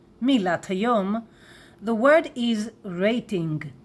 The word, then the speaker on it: רייטינג: Everybody will understand you, rating, but please say it in a Hebrew pronunciation, rating.